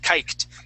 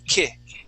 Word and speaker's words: kicked: You ended with a t and it sounded fabulous, but you said kite. Okay. Now, this is a uh short i sound. It is kicked.